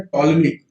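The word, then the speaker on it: Ptolemaic: अच्छा, दूसरी बात ये है कि जो जो पहले के सिद्धांत थे, जो क्रिश्चियन मिडवल सिद्धांत थे, उनको बोलते थे टॉलमिक, पी साइलेंट है, टॉलमिक सिद्धांत में क्या होता था कि जो अर्थ है वो सेंटर में है।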